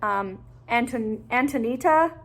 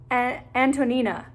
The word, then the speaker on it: Antonina: I'm also not that far into it, but this is the story of a Jewish woman named Antonita. Is that how you say it? No, Antonina, who...